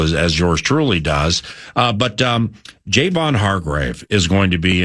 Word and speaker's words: Javon: To clarify, Javon is how you pronounce it?